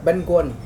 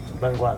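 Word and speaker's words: bánh cuốn: Benuan. Benuan.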